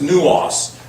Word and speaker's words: nous: Now, the word mind is 3564, and it's nous. It's pronounced N-O-O-C-E.